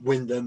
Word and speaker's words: Wymondham: place for me, but Wyndham is absolutely lovely. Lovely little town. you know, a bit like this station on Oh Doctor Beeching, really. We've been there. We went there when we were doing Beeching. It's spelt Wymondham, isn't it?